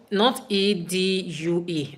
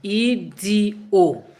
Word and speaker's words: Edo: Not Edue. No, Edo. Did you get the spelling? Elshu. Edo.